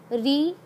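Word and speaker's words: ऋ: अब देखिए री, री जो है उच्चारण की दृष्टि से ये स्वर नहीं है, क्योंकि इसमें र की साउंड आती है और ई की साउंड आती है, मतलब एक स्वर है और एक व्यंजन है।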